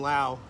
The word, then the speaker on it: Laos: I mean, I was in Laos. It's pronounced Lao, not Laos, by the way, 2 years ago.